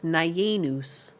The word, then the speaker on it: Nyanus: Mighty Li streams and he pronounced your name as Naenus. That's acceptable. I don't think there's really a right way to say my name. It's like a madeup word.